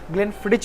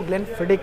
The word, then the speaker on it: Glenfiddich: कई बार लोग इसको ग्लेनफिडिच भी कहते हैं, बट इसका जो एग्जैक्ट प्रोनाउंसिएशन है वो ग्लेनफिडिक है।